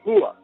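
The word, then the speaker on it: هو: El en árabe eh referido a Dios se dice juado con con no como h aspirada, sino con lo más profundo de de la garganta, cerca del esternón.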